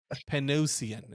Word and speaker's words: Panosian: It's Dan Panosian is what his name is.